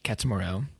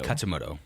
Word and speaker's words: Katsumoto: We're introduced to Katsumuro. Is it Katsumuro or Katsumoto? Katsumoto. Okay, I've been saying it wrong this whole time.